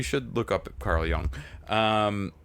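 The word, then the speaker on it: Jung: look up at Carl Young um I'm probably saying his name wrong but it's spelled with a J but it sounds like young anyhow so he says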